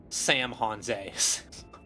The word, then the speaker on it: San Jose: The pun is that Sam horse is supposed to be San Jose, pronounced Sam Hon.